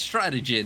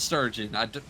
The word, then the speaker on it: strategy: of the player right it's strategy not sturgeon i have no idea